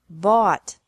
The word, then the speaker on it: bought: This can be spelled O-U-G-H-T or A-U-G-H-T, but the pronunciation is the same. Bring, brought, brought. Buy, bought, bought.